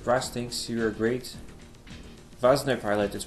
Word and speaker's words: Wanzer: thinks you are great vasner pilot is pronounced vasner like halfway between v and w apparently we have like